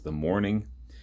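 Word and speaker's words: The Mourning: The big, big single was The Morning, which is pronounced like your morning, not a morning, like a typical morning.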